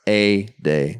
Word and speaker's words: Ade: A-Day. He did get at us on Twitter and say his name is pronounced like Mayday. Travis A-Day.